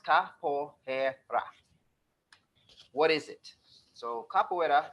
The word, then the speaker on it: capoeira: desire to know more capoeira and pronounced Kapoor hair rock what is it so